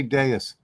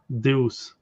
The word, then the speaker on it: Deus: mean if I need to pronounce it like in French? Yeah, say in French. Deus. Deus. Deus. Deus. Deus. Okay, yes. that way I can. Yeah, and it's not French; it's Latin, Roman language.